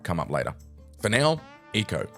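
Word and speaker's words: Ico: For now, Eco, which, by the way, is pronounced Eco. I've been called out in the comments for this before, but I assure you there are videos of the producers saying Eco.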